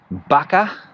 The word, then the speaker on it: vaca: know here in spain the v and the b uh sometimes pronounced exactly the same so for example cow in spanish baka v a c a